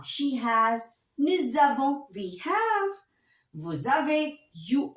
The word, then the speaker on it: nous avons: Nous avons. Vous avez. Ils ont, elles ont. Now I'll tell you one more thing. While pronouncing, if your noun is ending with S, so we read these two together.